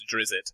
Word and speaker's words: Drizzt: right, and it's written, when he's trying to pronounce it phonetically, it's written as Drizzit. So I assume that's what Salvatore was going for.